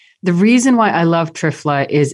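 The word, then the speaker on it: triphala: so one of my favorite all-time herbs is trifla and that's spelled t-r-i-p-h-a-l-a and you know it's a little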